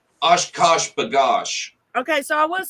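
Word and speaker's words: OshKosh B'gosh: Oshkosh bagosh.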